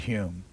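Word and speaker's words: Home: future but of satire the then Lord Hume or the Lord humor that's right he pronounces H ome I know this that's that's that's pertinent for you if we can pronounce it differently from the way it's written down we will what's that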